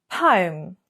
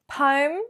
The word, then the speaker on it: poem: So have we got two syllables or have we got one using a diphthong? O-M, O, poem or poem. So are you using a diphthong, meaning a sound that has two sounds combined?